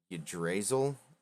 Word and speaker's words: Yggdrasil: dice bag with a symbol of, I can't pronounce that shit, Yggdrasil on the outside.